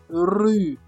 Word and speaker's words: rue: Meaning that you see the French R comes from the throat, not from the mouth.